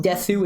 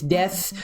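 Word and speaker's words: です: a verb and how it's not pronounced Desu it's death which is one of the few exceptions to how it's like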